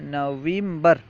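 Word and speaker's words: نوامبر: کے بعد ہے نومبر، نومبر کو فارسی میں نویمبر، نویمبر، واو کے بعد یا بڑھا دیں، نویمبر کہتے ہیں۔ دسمبر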